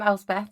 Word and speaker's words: Elspeth: So I am Elspeth, as you have just said very well. Most people can't normally pronounce it, but it is Scottish for Elizabeth, if anyone is wondering.